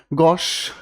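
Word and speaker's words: gauche: तो इसको हम अगर कहने की कोशिश करें तो ये बेसिकली हम कहना चाहें तो गॉश।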